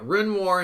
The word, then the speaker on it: Renoir: Uh Renoir and Dega is how you say these names.